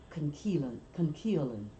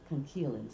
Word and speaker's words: conchiolin: Conchiolin, but it's pronounced Conchiolin. That CH is pronounced KE, concheilin.